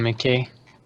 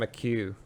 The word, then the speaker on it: McHugh: Ian McKay. No, not McKay. I'm just embarrassing myself right now in front of the whole world. Ian McHugh. Yeah.